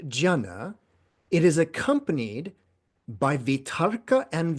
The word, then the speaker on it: vitarka: it is accompanied by vitarka and vichaya. So it's accompanied by applied and sustained thought. So we've talked about vitarka and vichaya before, and that's, by the way, the Sanskrit pronunciation, because I'm used to the Sanskrit pronunciation.